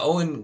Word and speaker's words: Eoin: grossly mispronounced his name because it's Irish and it's pronounced Owen even though it looks like eoine or something like that uh but uh Owen Colfer is the author